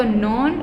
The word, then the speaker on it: known: Blank, lion is known, देखो मैंने यहाँ पे known रीड किया है, KN मैंने आपको बताया है, जहाँ पे होते हैं वहाँ पे हम K साइलेंट होता है, तो known as the king of the forest।